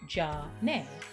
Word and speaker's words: Zhané: Renee had the idea to use the French pronunciation of their first names, Jean and Renee, which sounded like Jah-Nay, then suggested that they